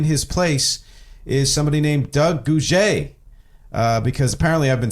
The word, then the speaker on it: Gouger: Sadly, Doug Gouger had to leave, and in his place is somebody named Doug Gouger. Because apparently I've been saying his name wrong the whole time, and he very kindly